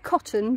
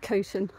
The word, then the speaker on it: Coton: I know it looks like cotton, but it's actually pronounced Coton.